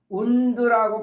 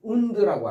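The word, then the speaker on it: wound: 그다음 운드라고 발음하시고요.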